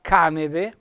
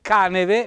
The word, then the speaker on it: Caneve: qualche televisione che parlando della località ca neve che vedete caneve l'accento è sulla invece pronunciano tutti caneve non parliamo poi del